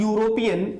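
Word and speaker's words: European: Start हो रहा है, देखने में तो ऐसा लग रहा है कि ये वॉवेल से स्टार्ट हो रहा है, लेकिन इसका जो प्रोनाउंसिएशन है, जो साउंड है, वो यूरोप इस तरीके से लिखा जाएगा, इस तरीके से लिखा जाएगा।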